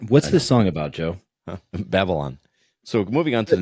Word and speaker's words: Babylon: called Babylon um or maybe the way you might pronounce it is baby lawn I'm not sure what your English I us pronounce that baby Lon like when we were little I'm sure you did um you and your terrets uh so babyon but it's Babylon but let's go and play